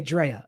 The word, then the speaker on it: Drea: It's pronounced like Dr. Dre with an at the end. Okay, Drea.